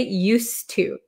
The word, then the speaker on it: used to: or use but uh there is actually a d here okay used to used to it's just uh difficult to say used used to it's very difficult so we just cancel out the D sound used to used to